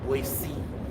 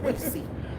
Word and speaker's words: Boise: Sorry, I pronounced it correctly. Boise. That's how they pronounce it. Boise.